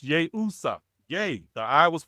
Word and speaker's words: Yeshua: So, but the I was around there was yay usa and it's pronounced yay usa.